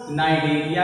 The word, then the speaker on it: Cnidaria: तो बच्चों फाइलम क्या है इसका, नाइडेरिया है। तो नाइडेरिया में आपने देखा ये सी है, तो ये क्या है, सी साइलेंट है।